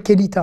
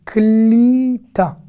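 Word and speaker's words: קליטה: Là, je ne vais pas dire kelita. Hein. Là, c'est klita. D'accord? Klita, c'est le fait d'intégrer ou de capter. Ça veut dire les deux. En klita, j'ai pas de réseau.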